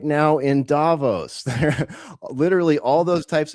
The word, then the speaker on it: Davos: Davos, that's right.